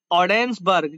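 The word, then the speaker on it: Ogdensburg: अलावा जो है ये ओडेंसबर्ग, जो जी है यहाँ पे साइलेंट है, ओडेंसबर्ग, ओडेंसबर्ग जो है सेंट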